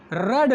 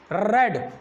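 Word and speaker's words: read: हो सकता था गाइस रेड लेटर, रेड। आप सोच रहे होंगे मैं रेड क्यों पढ़ रहा। रीड first form, second form रेड और third रेड, रीड, रेड, रेड।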